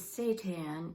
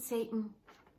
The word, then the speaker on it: seitan: going to use seitan i just looked up the pronunciation and it is seitan it isn't satan it's actually a very